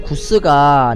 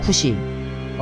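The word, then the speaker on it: כוש: 시를 짓기를 베냐민 사람 구스가 날 존나 괴롭힌다이 구스 굿이 이게 본래 발음은 쿠시입니다 쿠시 베냐민 사람 쿠시가 날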